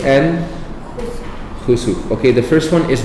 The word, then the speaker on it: khusuf: And then the second one, khusuf, the one that is spelled KH, That is the same word, but instead of a kaf, you're using a kha. Okay? So kha, sin, waw, fa.